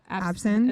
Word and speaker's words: absinthe: Absinthe. It's not She kept saying abstinence.